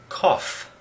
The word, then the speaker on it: cough: eagle how do you say this word it's cough the gh sound is pronounced and this word laugh the gh in